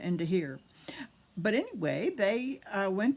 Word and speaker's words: De Gier: hipster and here mystery g in dutch is pronounced an h i learned so it's hipster into here but anyway they uh